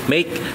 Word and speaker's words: Make: ko nung una ito ay wake pero nung chineck koy Dito Ayan make po talaga yan make yung mismong brand niya kasi meron yung road bike na wake e na nagka mali ako ng pronounce no yung Pero ito make talaga eh Ayan So make Vigor